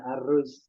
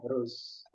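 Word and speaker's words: أرز: Tapi secara asli pakai hamzah ya, aruz. Cuman kita bacanya ruz.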